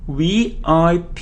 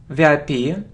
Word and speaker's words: VIP: For example, he's a VIP person, VIP. We pronounce it like 3 separate letters, VIP, VIP.